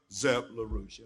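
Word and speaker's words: Zepp-LaRouche: schiller institute founded by linda larouche and helga zeb larussia am i correct in that pronunciation good in 1984 in april and may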